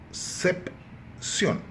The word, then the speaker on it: Concepción: E Concepción, se a gente for dividir a palavra em sílabas, começaríamos com Concepción. A tônica, ou seja, a sílaba forte é a última. Portanto, é uma palavra aguda.